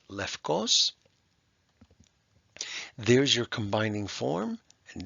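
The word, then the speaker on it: λευκός: to know glucose and in modern Greek this is pronounced lefkos there's your combining form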